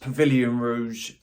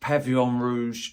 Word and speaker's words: Pavillon Rouge: this at Christmas and I thought it was pronounced Pavilion Rouge it isn't it's pronounced pavon Rouge so I do apologize that I didn't pronounce